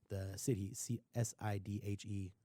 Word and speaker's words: Sidhe: So I think that there's, and he's even said that they're kind of like the city, Sidhe. I think they're pronounced like the she or sea, which are elven mythological beings.